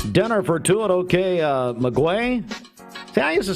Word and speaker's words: Maguey: I say OK Maguey.